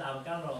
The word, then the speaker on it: Avogadro: 因为这个念起来是 Avogadro，是所谓亚佛加德罗嘛，对不对？